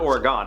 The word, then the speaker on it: Oregon: That's how you say it, right? It's Oregon, not Oregon, it's Oregon. Oregon? I'm pretty sure it's Oregon.